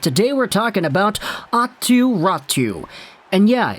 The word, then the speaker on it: Räty: we're talking about ottu ratu and yeah it's rat 2 because the y in finnish is actually pronounced like a u so try not to pronounce it like ati ratty raju is a guy